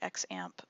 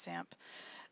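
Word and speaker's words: XAMPP: web database package called zamp or it's looks like x amp but it's pronounced samp there are several out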